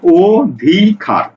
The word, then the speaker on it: অধিকার: এটা যদি উচ্চারণ করি, উচ্চারণ করি কি, দেখো উচ্চারণ করছি অধিকার। দেখো এখানে কিন্তু বানানে বর্ণ ছিল অ, এটার উচ্চারণ হচ্ছে কি, এটার উচ্চারণ হলো অ, অ স্বরে অ, অ। আর উচ্চারণ করছে কি, অটা হচ্ছে ও। দেখো বলছে কি ও ধি কার, অধিকার। লক্ষ্য করো, এই অটা ও হয়ে গেছে।